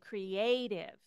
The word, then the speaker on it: creative: lot and figure out it has to do with where the accent is in the word and where that t is um so in this one I would say creative it's because the accent is on this a here it's imaginative the accent